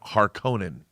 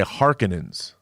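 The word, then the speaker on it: Harkonnen: you uh this is the second time my pronunciation has been corrected uh in Dune then Evil news Dune I always said Baron harkonen the harkonens yeah and in in vilnews doing they say harkenings and I was like that's a very different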